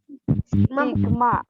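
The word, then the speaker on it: Σ: Dibacanya gimana? Sigma.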